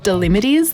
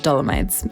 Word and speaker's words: Dolomites: them also I'm sorry I keep pronouncing it wrong throughout the whole video I keep seeing the limities like Yosemite instead of dolomites anyway our first two